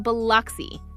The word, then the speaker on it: Biloxi: Just remember, it's pronounced Biloxi. Say it right, and you'll fit in.